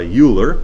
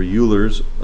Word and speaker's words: Euler: this theorem that was discovered by Euler. I think is how you pronounce his name.